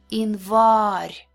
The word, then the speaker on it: январь: Unstressed Е and Я sound like E, like in the word seek, E.